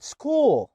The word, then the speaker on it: school: زي كلمة school. school هنا بقى كا، لما يجي قبليهم السي اتش دول يجي قبليهم حرف اس فيتنطقوا كا في اغلب الوقت.